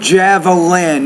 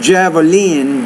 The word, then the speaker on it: javelin: You say the word javelin, not javelin, but javelin, the javelin.